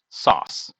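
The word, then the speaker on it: sòs: It's spelled S-O-S with a little accent on the O, sauce.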